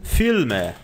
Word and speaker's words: Filme: Você nota que a pronúncia do L no alemão, você coloca a ponta da língua no céu da boca. Não é filme, é filme.